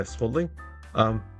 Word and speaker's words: Swadling: I'm not good at pronouncing. Yeah, Swadling.